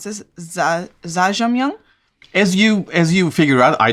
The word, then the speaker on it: Jjajangmyeon: And today we have Jjajangmyeon.